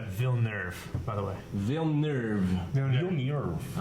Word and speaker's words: Villeneuve: Pronounced Villeneuve, by the way.